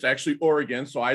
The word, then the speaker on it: Oregon: Midwest and we were told we had to pronounce it Oregon uh but it's actually Oregon so I like to say it the right